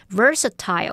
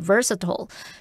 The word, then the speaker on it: versatile: 那带有这一类的字根的字大多含有改变原状的语义。好，那么在 invert 这个字当中，它的字首 in 表示在点点点之中或是在点点点之上，那么字根 vert 表示翻转。好，那当我们把东西内外或是上下翻转，它就会前后倒置或是上下颠倒。用这样的方式，也许可以联想到 invert 就有使倒置、使颠倒的意思了。好，那也补充2个有这一类字根的单字。第一个是 convert，它的字首 con 表示 together 一起，那么字根 vert 是指 turn 也就是转，那全部一起翻转，应该可以联想到 convert 它就有转换、改变的意思咯。第二个补充的是 versatile 或是念作 versatile，它的字根 vers 表示转，那么 at 是来自动词字尾 ate 表示使成为，那么 ile 则是形容词字尾表示具有某种能力。我们从这个字根字尾的表面意思来看呢， versatile 它是指说具有多变的能力，那从这个语义中又带出了那种多才多艺的意思了。好，那么以上今天重点整理，我们来回顾今天的单字吧。